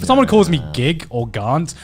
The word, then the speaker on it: Garnt: Like if someone calls me Gig or Garnt, like my family to this day still call me Gig. So like, I'm used to hearing that. And the fact that it's pronounced like Grant. You know, Yeah.